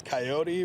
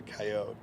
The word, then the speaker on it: coyote: okay well it's uh pronounced in two different ways from where I'm from in Montana originally it's coyote but down here it's a coyote coyote yeah because of